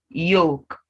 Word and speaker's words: yolk: word good should talk so if you ask me what about chalk what about walk yes the early silence yolk salmon not salmon that fish salmon half folk so the l is silent in these words k is silent wait